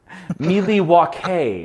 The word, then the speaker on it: Milwaukee: Milwaukee is how that's pronounced.